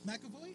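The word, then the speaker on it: McAvoy: younger version James M Ivy or a makoy makoy okay see I was pronouncing the wrong the enti time the whole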